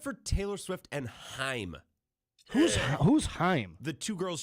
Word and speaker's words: Haim: No, it is like time. Haim.